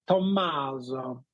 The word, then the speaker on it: Tommaso: Yeah, my Italian counterparts, it's like they really pronounce the double M. It's like Tommaso. Tommaso, vieni qua, Tommaso.